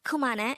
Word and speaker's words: 그만해: means stop it in korean again the word kumana is used to say stop it or enough